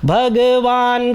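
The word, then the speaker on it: भगवान्: विश्वेश्वर भगवान काल मूर्ति अब देखि न य पर हलंत है तो भगवान का न में अ का साउंड नहीं आएगा भगवान काल मूर्ति ठीक है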